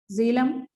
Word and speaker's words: Jhelum: So once again observe the pronunciation of these 5 names: Jhelum, Chenab, Ravi, Beas and Satluj.